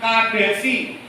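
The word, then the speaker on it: Kadesy: Nanti misalnya Bapak Ibu juga akan ketemu tulisannya Kadesi, pakai E juga, tapi bacanya Kades.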